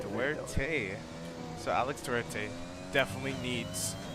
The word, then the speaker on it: Duarte: Duerte is how you pronounce it. okay. It is Spanish, so yeah, Duerte. Duarte.